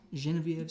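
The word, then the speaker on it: Geneviève: here's uh genevieve's song genevieve's song that's the correct way to say her name up here in french canada quebec tom says you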